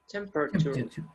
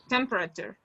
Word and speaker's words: temperature: temperature yeah the the the first syllable is stressed you have the apostrophe